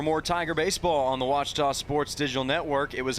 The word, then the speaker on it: Ouachita: Wichita. Achita. Ouachita. Is it pronounced Ouachita? Searching for Ouachita Baptist University. Back in Texas, everybody pronounces it Wichita, but really, it's Ouachita. Ouachita. Ouachita.